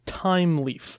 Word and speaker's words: Thymeleaf: and this is the technology called time leaf and time is spelled like the Herbet I'm with a th Y a me time leaf basically